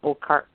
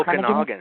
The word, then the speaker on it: Okanagan: International Film Festival um I want to try to pronounce this it's okar okar is that right oh Okanagan yes it's uh it's actually